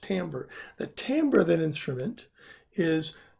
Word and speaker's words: timbre: it's spelled t IM bre it looks like Tim berry but it's actually pronounced Tambor the timbre that instrument is made up of